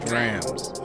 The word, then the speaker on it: DRAMS: dreams first and foremost it's pronounced drams not drums not drums what you got in